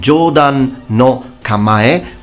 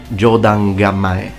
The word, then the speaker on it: Jōdan no Kamae: So it's called, as we said, Jōdan no Kamae, or you can also pronounce it Jōdan Kamae.